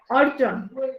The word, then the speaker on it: অর্জন: কারণ হচ্ছে রেফের পরে ব্যঞ্জন বর্ণের দ্বিত্ব উচ্চারণ হয় না। দ্বিত্ব মানে কি? দ্বিত্ব মানে দুইবার, দুইবার। ওকে, তাহলে দেখো অর্জন, এখানে দুটো বর্গীয় উদ্ধ ছিল, হবে না।